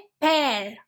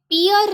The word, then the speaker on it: pear: नाशपाती हिंदी में कहते हैं नाशपाती, इंग्लिश में कहते हैं पेयर। ये पियर नहीं है, इसे पेयर कहते हैं।